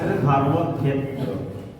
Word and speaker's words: ধর্মক্ষেত্র: তারপরে ক্ষেত্র রক্ষেত্র ধর্মক্ষেত্র আমরা বাংলায় ধর্মক্ষেত্রে সংস্কৃত উচ্চার ধর্মক্ষেত্র ক্লিয়ার এবার ক্লিয়ার পরের পরেরটা